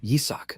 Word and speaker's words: Yisak: That's an alternate pronunciation of his real name, Yisak. And when that god sealed him, he used the mistaken name, Isaac?